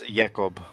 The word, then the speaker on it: Jacob: name you might have heard it but it's yaqoub are you see the pronunciation personally but yeah nothing thing you'll seem